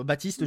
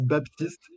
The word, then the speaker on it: Baptiste: les non-francophones n'arrivent pas à comprendre que le P de mon prénom ne se prononce pas. Donc à chaque fois, ils disent Baptiste.